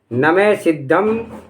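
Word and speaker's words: नमः सिद्धम्: इसका शुद्ध उच्चारण है नमे सिद्धम सिद्धा वर्ण सामान्यम सिद्ध को नमस्कार हो।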